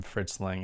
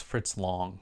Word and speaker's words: Fritz Lang: and i apologize if i've been calling him fritz lang it's fritz long so don't jump in